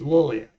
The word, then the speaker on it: Liliac: And that's when I learned to mispronounce their name. So it's Liliac.